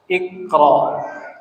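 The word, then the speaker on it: اقرأ: Jadi bacanya kalau huruf ketiga 1, 2, 3 fathah, maka ini jadi kasroh. Kasih baris meskipun aslinya tidak berbaris. Tapi bacanya jadi i. Iqra.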